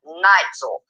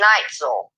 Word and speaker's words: Neitzel: Neitzel. Okay, Ron, I'm so sorry. Please forgive me, sir. Ron Neitzel is how you pronounce his name.